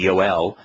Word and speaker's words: Joel: job and uh and Joel which would be yoel uh that all of those names are uh